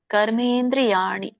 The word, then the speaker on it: ಕರ್ಮೇಂದ್ರಿಯಾಣಿ: ಇಂದ್ರಿಯಾರ್ಥಾನ್ ಮೂಡಾತ್ಮ ಮಿತ್ಯಾಚಾರ ಸಚ್ಚತೆ ಕರ್ಮೇಂದ್ರಿಯಾಣಿ ಇಲ್ಲಿ ಮಕೆ ದೀರ್ಘನು ಇದೆ ಅರಕಾವಳಿನು ಇದೆ ಅನುಸ್ವರನು ಇದೆ ಕರ್ಮೇ ಇಂದ್ರಿಯಾಣಿ ಕರ್ಮ ಇಂದ್ರಿಯಾಣಿ ಅಂತ ಕರೀತಾರೆ ಬಿಡಿಸಿದ್ರಾಗ ಕರ್ಮ ಇಂದ್ರಿಯಾಣಿ ಕರ್ಮ ಇಂದ್ರಿಯಾಣಿ